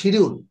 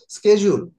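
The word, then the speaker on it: schedule: টু go through it আমরা অনেকে বলি শিডিউল হুম তো শিডিউলটা আসলে কোন শিডিউল বলে কোন শব্দ নাই স্কেজউল স্কেজউল স্কেজ স্কেজউল প্লিজ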